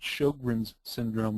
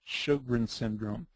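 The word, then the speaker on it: Sjögren's syndrome: 30 to 50% of people who have systemic lupus will have a complication called Shogrin's syndrome. It's spelled with an SJ, but we pronounce it like an SH, Shogrin syndrome.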